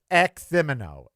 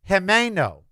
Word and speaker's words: Ximeno: First of all, there's no x sound in español. Second of all, the i is not pronounced i and the e is not pronounced e. It's Ximena.